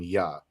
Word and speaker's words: Jah: to his name as Jah, right? And when you're dealing with ancient Paleo Hebrew, right, the letter J literally goes into the pronunciation of Y, which is why we call him Yah.